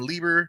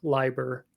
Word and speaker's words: Leiber: I think I used to call him Lieber. I think Leiber is the appropriate pronunciation.